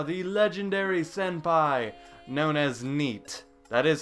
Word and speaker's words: NΣΣT: For 4+ years now, the legendary senpai, known as NEAT. That is how you pronounce that.